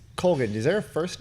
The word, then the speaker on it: Colgan: It's Colgan. There's Colgan. Guys, did you hear that? It's Colgan.